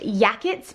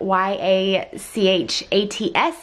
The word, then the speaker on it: Yachats: Today we are in Yachats, Oregon, which I have always pronounced Yachats because it's spelled like Y-A-C-H-A-T-S, but apparently it's Yachats.